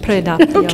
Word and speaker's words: Predappio: museum to fascism in Predappio, right? Yes. Am I pronouncing that correctly? Almost. Predappio.